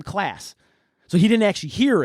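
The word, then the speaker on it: Claise: class it was it's spelled c-l-a-i-s-e he actually sent me an email the night that we recorded I got home and he's like no it's my name class so he didn't actually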